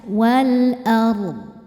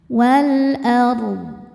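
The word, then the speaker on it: والأرض: Dodnya harus kebaca wal ardh. Tidak memantul dodnya dan tidak berangin. Wal ardh.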